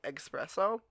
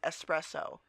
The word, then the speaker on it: espresso: would get so passive-aggressive if somebody would say Express oh look it's not how you spell it or say you say eggs say s s espresso so would you say they express owed their